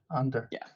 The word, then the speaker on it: Onther: How do you say the name? Yeah, Under. Yeah, exactly. And super cool to have, the rebase and plasma EVM.